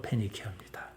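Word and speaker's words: Phoenicia: 바로 헬라 그대로 하면은 포이니케입니다. 영어식 발음으로 페니케아입니다.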